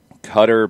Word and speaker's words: Qatar: a clear-cut setup um qatar is what i had always heard then i think during the bidding for the world cup that they were awarded cutter became a more common usage but i don't think there is an exact like this is right this is wrong and that's what's frustrating